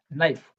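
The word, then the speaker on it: knife: एन से पहले हम के को नहीं बोलते हैं। यहाँ क्या वर्ड हो गया? नाइफ, knock. सिर्फ एन का साउंड आएगा, के का नहीं आएगा।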